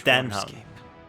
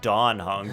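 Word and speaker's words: Dan Heng: It's Denhung, not Donhung. Donhung would be with an O.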